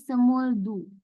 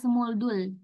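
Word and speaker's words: 스물두: Jadi semuldu. Enggak semuldul ya, semuldu.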